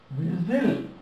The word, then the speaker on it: whistle: Whistle. Whistle. Whistle. This is way. Way. Z-l. T is silent.